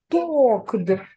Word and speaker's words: talked: Отже, talked. Talked. Talked. Talked. Talked. Talked. Буква Е не читається. Так. Дивіться, іді додаються, але і не читається.